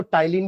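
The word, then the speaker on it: ptyalin: Salivary एमिललेज़ या फिर एक और नाम है टाइलिन जिसमें पी साइलेंट है ठीक है?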